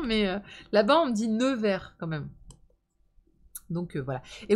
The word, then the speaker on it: Nevers: Ah, c'est parce que je dis Never. Never? Never? Never? Comment on prononce ça?